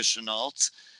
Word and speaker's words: Shenault: I feel like the L is silent. Shenault.